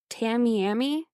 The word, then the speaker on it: Tamiami: hi Lauren says hi did I say it wrong uh is it Tamiami yeah yeah Tamiami so we got confirmation from someone who lives in Florida it's the Tamiami Trail that sounds more fun